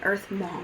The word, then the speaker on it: EarthMaum: Well, I am Earth Mom on Instagram, but it's spelled like M-A-U-M. So I'm Earth Mom.